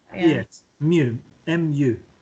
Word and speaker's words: mu: MU. M. Okay. U. Mu. Sounds funny, but that's how you say it.